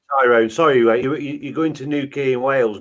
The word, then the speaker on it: Newquay: Yeah, by the way, Tyrone, sorry, you're going to Newquay in Wales, not Newquay in Cornwall, aren't you?